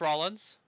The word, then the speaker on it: Rollins: Seth Rollins, or as my dude Little Curb would say, Seth Rollins.